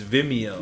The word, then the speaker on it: Vimeo: as I I'm bigger they will pronounce it like video but it's vimeo yeah cuz it has